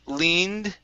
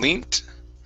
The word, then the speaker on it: leaned: um next we have leaned right here leaned leaned leaned okay give me a d you're pronouncing a t you're saying linked okay almost almost so you're